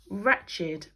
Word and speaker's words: wretched: one I felt so wretched because I thought I would never see you again and this one has a silent W like in wreckage before the are okay brilliant now I'll